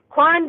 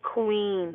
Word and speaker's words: Quan: And it's pronounced Quan, not Queen, LOL.